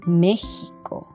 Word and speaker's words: México: sera xenofobia y luego cuando la x se encuentra en palabras de topónimos americanos el sonido en este caso será una ejemplo méxico tejas y y yeso hierba